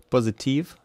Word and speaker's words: positive: Number eight, positive, positive, positive, positive. So the first syllable is stressed.